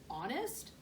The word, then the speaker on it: honest: a good guess but honest starts with an h miss brisbane wrote the word on the board silent h no fair i'll have